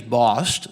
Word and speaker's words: Bost: The first thing I want to do is the name is Bost, so that's how that's pronounced.